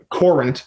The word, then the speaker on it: Courant: She covered the Yankees for the Hartford Courant. Now, how is that? Isn't it spelled current like normal? Well, no, it's spelled Courant.